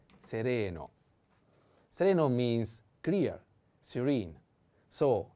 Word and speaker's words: sereno: chelo sereno and sereno i have to put the accent on the second e sereno sereno means clear serene